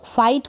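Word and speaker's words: fight: एफ को फ, आई और ट। फाइट का मतलब है लड़ाई या झगड़ा, तो यहाँ पर आई जी एच टी को क्या पढ़ रहे हैं, आई।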